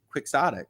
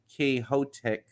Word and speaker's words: quixotic: don quixote uh yes absolutely but we we pronounce it quixotic right it's not k hotek i don't believe uh but but yes i